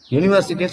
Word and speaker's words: university: ஏன் அப்படின்னா the pronunciation of the word யூனிவர்சிட்டின்னு சொல்லக்கூடாது, எப்படி சொல்லணும்?